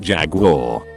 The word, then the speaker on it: Jaguar: were talking cars and i pronounce the make jag you are douchebag on the next stool takes the time to lean over and say it's pronounced jaguar friends were quiet they